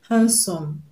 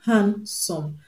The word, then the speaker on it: handsome: correct answer option a hand some handsome the D in handsome is silent so we don't pronounce it so it's not the